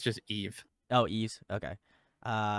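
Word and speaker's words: Yves: Chi uh IES and Chu just it's just Eve oh EES okay uh not even with an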